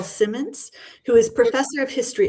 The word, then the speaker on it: Symonds: Simply to let you know that I say my name's Symonds. Symonds.